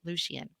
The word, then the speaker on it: Lucien: Lucien.